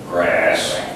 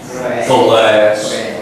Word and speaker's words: glass: p p pan P glass glass be careful is something totally different grass glass glass remember the L that's tricky somebody might